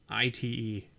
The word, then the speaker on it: Svyelunite: How do I pronounce this? Svianlunite Temple? Svilunite Temple? I don't know. It's Svyelunite.